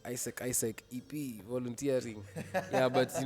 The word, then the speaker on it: AIESEC: So it's called Isaac and it's a worldwide youth run organization.